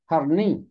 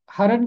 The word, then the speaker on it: हिरन: इसका हरन के कई तलफ़ुज़ हैं। इसका तलफ़ुज़ हिरन भी है, और हरन भी इसका तलफ़ुज़ है।